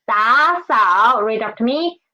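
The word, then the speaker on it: 打扫: And there are two third tones, so we should change the former one into second tone. So it's 打扫.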